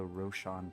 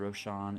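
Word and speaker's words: Raushon: see moving Westward all the way to the Roshan Peaks and Roshan is spelled r-a-u-s-h-o-n so our journey starts in the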